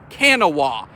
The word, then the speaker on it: Kanawha: west virginia and kanawha is actually spa is spelled like it looks kanawa not know as it looks uh on the